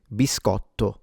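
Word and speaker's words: biscotto: So if you're only eating one for whatever the heck reason, then you would say biscato.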